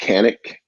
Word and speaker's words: Canik: importer of the North American importer of Kanak it is pronounced Kanak oh and if you go to Turkey they may say it another way but we've got them even saying Kanak in the equipment office in Turkey that is